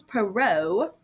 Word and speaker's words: Perrault: Then author 2 is Charles Perrault. Charles Perrault is spelled weird because he is French, Perrault.